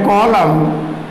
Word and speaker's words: column: लो द रो एंड कॉलम, द रो एंड the rose and द रो एंड कॉलम, या रोज एंड कॉलम्स, COLUMN silent है।